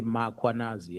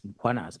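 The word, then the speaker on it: Mkhwanazi: them to pronounce muanaz, they will put an a after m. They'll say muanazi and there's no a. It's muanas.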